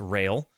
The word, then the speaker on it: Rael: The Lamb follows the protagonist Rael uh pronounced Rail. Got it.